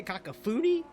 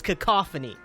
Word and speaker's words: cacophony: I'll give you the definition since - say Kaka foodie now ready for the definition in the pronunciation yes sir mm-hmm it's it's cacophony right it's like a harsh discordant mixture of